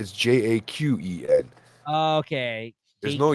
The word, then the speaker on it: Jaqen: It's Jaqen.